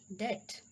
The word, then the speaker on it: debt: Rule number 2, B is usually not pronounced before the letter T. Just like doubt. B is silent here, doubtful. Subtle, debt.